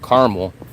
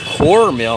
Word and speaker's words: caramel: road I pronounce it caramel I don't say corl I say car caramel Carl I don't say caramel I don't make it into caramel I say car like a vehicle car and mole like a